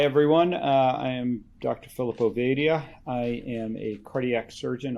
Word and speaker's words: Ovadia: call me phil uh ovadia is how you pronounce my last name introduction but uh calling